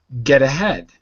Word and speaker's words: get ahead: more time get ahead notice how I said it with a d not a t get the head get Ahad get aead that's it much better the T softens to a d when you're speaking quickly